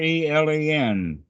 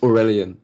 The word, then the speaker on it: Aurelian: I'm not sure how to say the name. Aurelen. It's Aurelian, yeah, but I'm great.